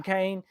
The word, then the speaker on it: Kane: I do want to mention, by the way, right there, Kane Valdir Gaming, and I said it right the first time, Kane.